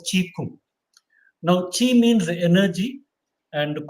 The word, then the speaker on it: Qigong: So it has its origin from another very ancient Chinese art called Qi Kung. Qi Kung, which is written as Qigong, Qigong. That's how written in English, but pronounced as Qi Kung.